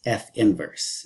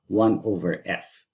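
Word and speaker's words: f⁻¹: write that g is f inverse and that is pronounced f inverse not one over f okay in trigonometry you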